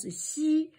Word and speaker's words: 羲: here like this, and this you pronounce it as xi. Xi, this is yi, this is xi, the first tone xi, yi, xi.